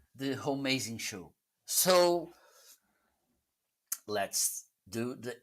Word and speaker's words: Homeazin: Homie, as in it's pronounced Homeazin.